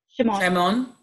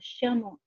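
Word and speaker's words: שמעון: How do you pronounce his Hebrew name, Sister Nation? Or Sister June? Shimon. Oh, Shimon.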